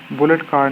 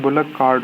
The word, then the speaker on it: bullock cart: तो बुलेट कार्ड नहीं है, बुलक कार्ड होता है।